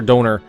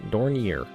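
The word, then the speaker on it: Dornier: flying donor 11s and I pretty sure donor is uh incorrect that's just what I say in my head and I've been pronouncing that way for years I don or something like that da Danier dorier it's DOR dorier although um failed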